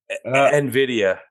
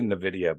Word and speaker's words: Nvidia: I say Nvidia, but it's Nvidia.